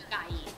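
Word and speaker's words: ไก่: Okay, so chicken is gai. Gai. Mm-hmm. But you have to get the tone right.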